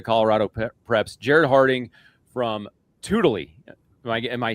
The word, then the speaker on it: Tewdilly: And our third wheel for the day, a brand new partner to Colorado Preps, Jared Harding from Tewdilly. Am I saying it right now? You nailed it. Yeah, Tewdilly.